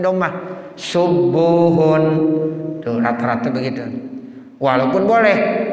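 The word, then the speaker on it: سبوح: Tapi rata-rata orang bacanya domah. Subuhun. Tuh rata-rata begitu. Walaupun boleh sabuhun boleh.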